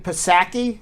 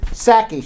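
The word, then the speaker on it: Psaki: press secretary uh jen posaki is that how you pronounce her name pasaki i guess uh she said sake she the p is silence yes she said uh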